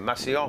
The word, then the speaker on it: Massillon: Massillon.